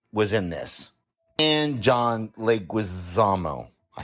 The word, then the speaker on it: Leguizamo: Totally forgot that new girl Zoe Deschanel was in this, and John Leguizamo.